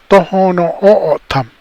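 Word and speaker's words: Tohono O'odham: And so we're now called Tohono O'otam.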